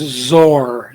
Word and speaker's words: XOR: Written as XOR and pronounced ZOR, ZOR, like Zorro, ZOR.